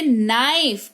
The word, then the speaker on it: knife: अगर किसी शब्द की शुरुआत में के हो और उसके तुरंत बाद एन आ जाए तो के साइलेंट होता है, राइट? जैसे नाइफ, KNIFE नाइफ यानी कि चाकू।